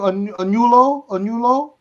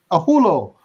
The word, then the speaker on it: Ahulo: Chief how do I pronounce that last name? Anulo? Ahulo.